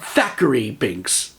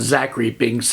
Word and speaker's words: Thackeray Binks: Yes, I said Thackeray Binks. For the longest time, I really thought his name was Zachary Binks, and people were pronouncing it like they had a lisp.